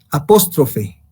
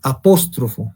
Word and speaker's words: apóstrofo: El apóstrofo, muchos decían, no se llama, o sea, lo he escuchado decir, apóstrofe, pero no. Se dice apóstrofo, no se dice apóstrofe.